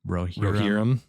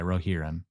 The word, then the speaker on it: Rohirrim: How do you say that? Rohirrim? Rohirrim. Yeah, Rohirrim. Rohan.